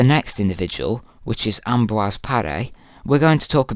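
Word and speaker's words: Paré: Some people call it par, some people call it par. It's actually par, but you don't have to say it like that.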